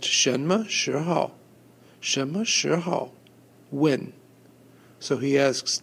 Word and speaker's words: 什么时候: The little ho got cut off there, but it's pronounced 什么时候?